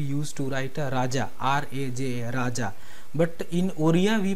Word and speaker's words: Raja: to write Raja, R-A-J-A, Raja, but in Oriya we pronounce it Raja. As I was saying before, that in Oriya the pronunciation is like a O, so Raja we used to pronounce.